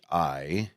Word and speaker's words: Orianthi: But tonight, if you want to catch the 8 o'clock show, how do you say that name? Me and Matt had two different ways of saying it. Let's see here. It's Orianthi.